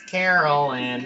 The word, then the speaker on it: Carolyn: It's Carolyn. It's like pronounced Carol, but Carolyn.